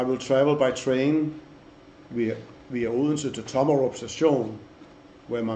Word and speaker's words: Odense: the capital of Fyn Odense, which the Americans somehow pronounce Odense, where we had a